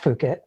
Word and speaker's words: Fookit: And the way we do that with the brand, even though it's pronounced Fookit, it persuades people to say fuck it, right?